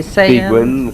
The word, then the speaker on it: Seguin: Some people pronounce that differently. Seguin, Sayan, yes.